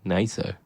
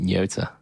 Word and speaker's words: Nato: I know how to pronounce that word now. NATO. Because I pronounced it Nyota, and then I actually heard someone say that word out loud, and then felt like an absolute dick.